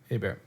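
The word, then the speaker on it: Hebert: Abear. It's spelled Heert. A lot of people don't know that. That's a bear.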